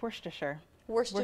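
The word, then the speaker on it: Worcester: pasquali and the sauce how do you pronounce it meliss it's Worster wor that sounds about right I think I've heard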